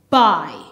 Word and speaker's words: buy: However, the U is silent. B, I buy.